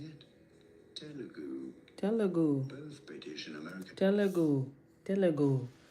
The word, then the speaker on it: Telugu: Pronouncing it. Telugu. Telugu.